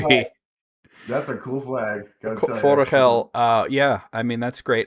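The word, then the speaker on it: Forochel: Oh, listen to Matt correctly pronouncing Forachel.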